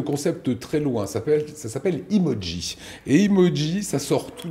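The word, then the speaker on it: Imodji: Emoji pour tes cuisines. Emoji, mot d'origine japonaise qui veut dire émoticône. Chicissime, fashion. On l'écrit comme ça se prononce. I-M-O-D-J-I pour faire simple.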